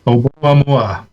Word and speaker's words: Oumuamua: Oumuamua.